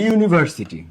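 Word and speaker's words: university: ইউনিভার্সিটি উচ্চারণ করতেছো তখন এই ইউ ইউ হচ্ছে উচ্চারণ যখন তুমি আর্জেন্ট উচ্চারণ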